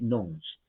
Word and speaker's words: nones: La E no se pronuncia, se dice nons.